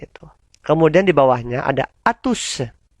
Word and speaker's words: à tous: Kemudian di bawahnya ada atus. O dibaca U. Tidak perlu monyong.